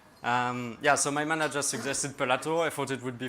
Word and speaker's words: Pelat: In French, it's Pelat. When I arrived in Japan for an internship, my manager asked me how to pronounce it. There's this silent T that French puts everywhere. He suggested Pelato.